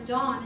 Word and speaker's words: Dan: so used to teaching dan that or dawn is actually the right way to say that i don't want you to think d-o-n so i'm saying in